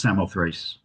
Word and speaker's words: Samothrace: Um and you probably um are aware of one connection to the island which is the winged victory of Samothraaki um uh pronounced Samothrace usually in English which is in the